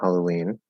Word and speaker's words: Halloween: nice very insightful so the first syllable in halloween runs with hall for you yes and uranus is